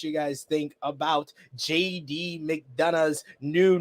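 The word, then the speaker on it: McDonagh: we don't do that the g h is silent he's been in the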